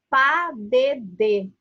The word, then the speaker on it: pas de deux: Essa palavra que está escrito aí, pas de deux, se fala pas de deux. É essa a pronúncia.